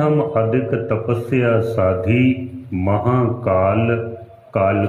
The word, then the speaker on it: काल: इस शब्द को, जो काल का शब्द है ना, इसको मुंह को थोड़ा आराम से खोल कर बोलना है, काल का।